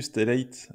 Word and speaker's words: Stellate: GraphCDN est devenu Stellate, je sais pas comment on peut prononcer, Ouais, Stellate, Stellat, on va dire à la Stellate française. à la française.